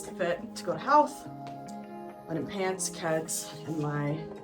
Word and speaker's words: Howth: Okay, this is the fit to go to health.